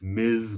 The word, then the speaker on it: Ms.: Her name is pronounced Ms. Marvel, not Miss Marvel or Mrs. Marvel. Those indicate marital status.